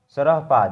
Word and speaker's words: सरहपाद: सरहपाद इसे पढ़ेंगे विद्यार्थी, सरहद पाद, सरहपाद, सरहपाद पढ़ सकते हैं आप।